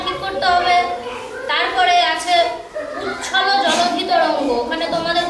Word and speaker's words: উচ্ছল: তারপরে আছে উচ্ছল জলধি তরঙ্গ, ওখানে তোমাদের উচ্চারণে ভুল হয়ে যাচ্ছে, উৎকল বলে ফেলছো।